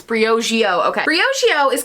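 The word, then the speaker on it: Briogeo: that's Hugh pronounced it is it Breo Geo I'm saying it right it's Brio Geo okay Bri Oh Geo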